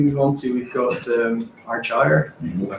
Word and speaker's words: Argyre: And the next slide we move on to, we've got Argyre. I pronounced it right.